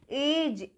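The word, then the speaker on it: edge: एज, जा pronounce किया। ठीक है, गा नहीं, ये इसको हम एग नहीं पढ़ेंगे, इसको हम पढ़ेंगे एज। ठीक है, अब यहाँ पर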